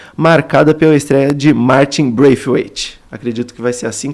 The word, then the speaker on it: Braithwaite: Eu acho que é Braithwaite. Bom, ele fez uma explicação quando chegou no Grêmio e é Braithwaite. Então vai ser Braithwaite. Eu vi no YouTube também, pesquisei no famoso nome do jogador /pronunciation e era assim.